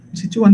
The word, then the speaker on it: Sichuan: Nah maka Bapak Ibu tidak mengherankan ya, tidak mengherankan kalau kemudian di Cina, di provinsi Sichuan, kemudian Sichuan bacanya gimana itu?